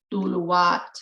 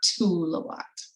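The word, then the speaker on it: Tuluwat: a long time, but the pronunciation sounds more like Duluwat and not Tulawat.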